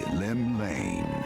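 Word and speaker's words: Llymlaen: Lone yet not alone, for the hero's arrival has drawn the gaze of the nation's patron deity, Limlane.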